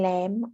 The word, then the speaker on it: lamb: I can't decide between lamb and duck lamb is of a baby ship and meet people eat from this animal notice the the B at the end is silent we don't pronounce it I can decide between